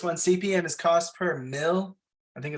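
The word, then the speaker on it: mille: CPN is cost per mil I think it's and now it's pronounced meal uh it's a Latin for thousands so it's the cost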